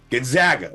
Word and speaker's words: Gonzaga: Gonzaga is how I would say it, or very